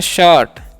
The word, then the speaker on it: shirt: Next क्या है समझिएगा, तो नेक्स्ट जो है हमारा SHIRT, इसमें पढ़ते हैं शर्ट। यहाँ पर भी आई का उच्चारण अ होता है।